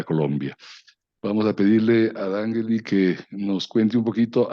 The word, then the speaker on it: Dangeli: Entonces, para empezar este foro, quiero dar la bienvenida a Dangeli, así se pronuncia, Dangeli.